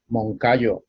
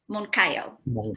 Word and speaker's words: Moncayo: Moncayo? You're saying it right. Some people say. Both are okay. Yeah. And how do you say your last name correctly? Moncayo. Moncayo.